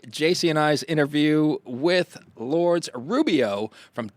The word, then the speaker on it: Lourdes Rubio: And I know I did not pronounce that correctly, so I will ask you. Lourdes Rubio.